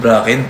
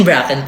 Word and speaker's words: Bracken: Ikaw si Josephine Brachen para sa akin. Ikaw Jose Rizal. Josephine Bracken pala yung pag ano npronounce mag-pronounce.